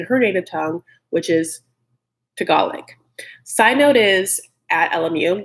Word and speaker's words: Tagalog: So I thought for 1 billion years that it was Tagalog. And so sometimes when I hear Tagalog, I have to like stop myself and be like, Tagalog. No, it's Tagalog.